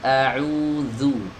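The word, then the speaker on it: أعوذ: Qul a'udzu, zu, bukan du. Bukan ditempel saja, tapi digesek. Ya, bukan juga zu, ini tekanannya sangat lemah, hampir nggak nempel. Nah, ini juga termasuk cara baca yang kurang tepat. Ya, yang benar dia digesek, zu.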